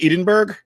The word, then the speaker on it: Edinburgh: all that good stuff they're called Edinburgh it's Edinburgh you say it like that so he throws something